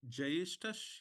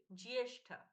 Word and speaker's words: ज्येष्ठ: जो 21वां श्लोक दूसरा जयेष्ठस या ज्येष्ठ उसका करेक्ट जयेष्ठस ज्येष्ठ जयेष्ठस ज विल बी हाफ हां ज will be half so you have to से जिएष्ठ यस प्रेरणा जी प्राण